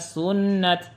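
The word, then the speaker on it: سنت: Kalau waqaf illa sunnat.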